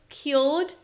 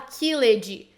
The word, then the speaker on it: killed: O primeiro, killed, não fala killed. A gente tem uma tendência, né, falante de português, de quando a gente vê esse ed no final das palavras, a gente quer pronunciar ele forte. Mas aqui eu vou te dar uma dica de ouro. Sempre que a gente tem ed no final de uma palavra, ele nunca vai ser a parte mais forte da palavra.